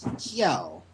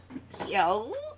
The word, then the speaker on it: Kjelle: From what I've seen, the J in her name is supposed to be uh pronounced like a Y.